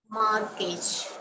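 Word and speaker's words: mortgage: amount தான் அது அடமானம் அருமையான வார்த்தை அடமானம் right மார்கேஜ் மார்கேஜ் Christmas Christmas இதுலயும் அந்த டீய வந்து கிறிஸ்மஸ்னு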